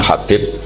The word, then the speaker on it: Habib: yang nulis Abi Abdurrahman Habib asulami itu di harakatnya kitab itu ada yang nulis hubb Yang benar Oh gigih yang benar itu bacanya habib habib itu asulami itu ikut